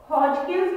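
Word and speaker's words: Hodgkin's: हॉजकिन्स disease, हॉजकिन्स के अंदर डी जो है साइलेंट है।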